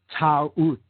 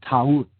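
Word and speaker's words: Taurt: Okay, in the Egyptian tradition, she is Isis, or Hathor, or Maat, okay, or Ta'ut, she was called in older Egyptian tradition, Ta'ut, T-A-U-R-T, Ta'ut.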